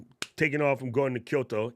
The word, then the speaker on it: Tokyo: amount of people that turn both of those cities into three syllables hurts my face it's Kyoto and Tokyo not Tokyo and Kyoto all right anyway so